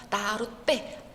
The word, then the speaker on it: 나룻배: 그래서 나룻배, 빼가 이제 또 쌍비읍으로 이제 발음되죠.